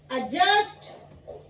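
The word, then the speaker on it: adjust: Next one इज एडजस्ट, एडजस्ट, ठीक है। इसमें डी साइलेंट होता है, एडजस्ट नहीं होता, एडजस्ट होता है, एडजस्ट, ठीक है।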